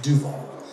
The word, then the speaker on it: Duval: I just found out some area known as east of Duval. I just like that. Duval.